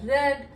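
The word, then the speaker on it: read: I shall have रेड, हम पढ़ चुके होंगे, तो शैल हैव के साथ रीड, रेड, रेड, इसमें स्पेलिंग वही रहती है लेकिन उसका प्रोनाउंसिएशन चेंज हो जाता है।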